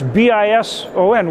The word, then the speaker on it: Bison: It's B I S O N. What? Why are you saying Bisonen?" You know, I said, "Because it's Bison Nation. We pronounce the S with a Z."